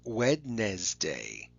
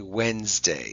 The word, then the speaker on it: Wednesday: that to you and it's easy to remember if you just say it the way it sounds wednesday okay wednesday so that d is one of the silent letters okay and the second